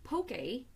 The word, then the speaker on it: poke: it pokeball so a pokey Bowl pokey which it looks like it's poke pee okay even say it right pokey bowl is